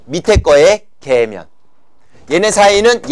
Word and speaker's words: 계면: 이름에다가 계면을 붙이면 된다고 발음 정확하게 하세요 면입니다 년이 아니고요 자 알겠습니까 성층고등학교 기온